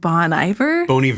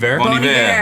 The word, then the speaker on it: Bon Iver: more recently, I don't even know how to pronounce his name. Is it like Bon Iver? Bon Iver.